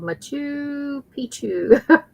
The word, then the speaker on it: Machu Picchu: Oh, she's Kelly's telling me how to pronounce it. It's called Machu Picchu.